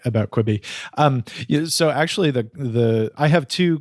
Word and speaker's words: Quibi: Is that how I even pronounce it? Quibi? Quibi, yeah.